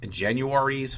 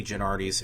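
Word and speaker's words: Genuardi's: Apparently, it is pronounced Januaries, but I say Gennardis.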